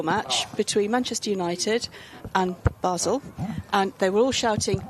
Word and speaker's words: Basel: ready first yeah well it says British pronunciation so would it be the same as as the the Swiss pronunciation Basel there you go what